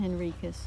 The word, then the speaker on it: Henriques: We were always pronounced my last name Henrikus. When I came here, the Portuguese pronounce and it's their name. It's Henrik. Henrik. Henrik.